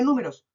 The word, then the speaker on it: números: Veamos la palabra números. Nu, me, ros. Tres sílabas de nuevo. Nu, me, ros. ¿Dónde se acentúa? En la antepenúltima sílaba.